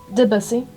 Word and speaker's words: Debussy: Debussy.